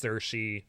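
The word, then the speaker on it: Saoirse: name yeah it's like it's spelled like s-a-o-i-r-s-e or something like that it's like no it's pronounced cershy Ronan and it's just like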